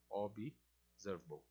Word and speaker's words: observable: E esse elemento é setado dentro desse objeto, desse chosen ticket, que ele é um observable, ou observable. Observable, a pronúncia desse cara aqui em inglês, tá?